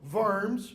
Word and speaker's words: Worms: a convocation a meeting at the town of vers it's how it's pronounced Germany it is called it was called